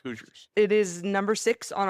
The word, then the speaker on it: Hoosiers: It's Hoosiers.